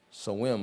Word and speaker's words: Samhain: It's part of the Scottish and Celtic or Irish celebration of the harvest time called Samhain, I think is how they pronounce that.